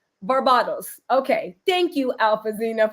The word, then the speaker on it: Barbados: Just because I have a lot of respect for the country of Barbados, I will pronounce it correctly. Barbados.